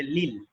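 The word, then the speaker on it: لِل: এরকম লিল মুদাররিসি, লামের সাথে যদি মানে প্রিপজিশনের সাথে যদি আল থাকে, লাম প্রিপজিশনের সাথে, তাহলে হবে লিল, উচ্চারণটা হয়ে যাবে লিল।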